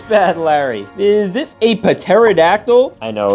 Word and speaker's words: pterodactyl: Is this a pterodactyl? I know it's pronounced pterodactyl. The P is silent.